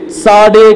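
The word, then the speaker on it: צדי: तो देखो, ये इसको बोलते हैं, ये अल्फाबेट को प्रोनाउंस करने के समय इसे साडे करके बोलेंगे. साडे, साडे मींस बाउ डाउन, क्या करना है, झुकना, झुकना करके मतलब है.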